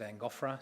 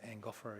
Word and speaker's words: Angophora: And I would pronounce it Angophora. Some people would pronounce it Angophora, but Angophora is how I would do it.